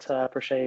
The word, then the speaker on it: Prashay: Um, yes, I formally go by Shay, but Prashay is the pronunciation of my actual name.